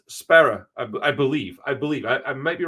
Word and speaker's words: Sparrer: I'm pretty sure it's Sparrer, like Coxbarra, and we just don't have the right accent to say it right at all.